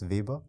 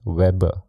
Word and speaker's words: Weber: yeah I think so in English you're saying it right yeah how do you say that in German Max Weber Weber yeah so in English typically it's Weber web but my professor well